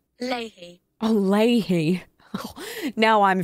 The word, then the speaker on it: Leahy: Leahy. That cannot be your name. Pronunciation. Leahy.